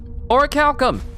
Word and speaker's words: Orichalcum: Orichalcum! I know I told you guys this story all the time, but I never knew how to say the words Orichalcum. I always thought it was Orichalanchalanchalam.